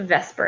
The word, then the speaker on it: VSEPR: up with VSEPR theory that I pronounce it Vesper it's what I was taught valence shell electron pair